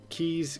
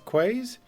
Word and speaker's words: quays: just kind of like i used to pronounce uh keys quays until katie corrected me god deliver what would